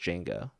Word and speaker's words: Django: So So there's a So Django is spelled DJ, but you don't pronounce the D.